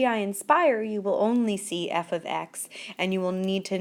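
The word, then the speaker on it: f(x): notation that we learned quite a while ago f of X is how it's pronounced f of X and f of x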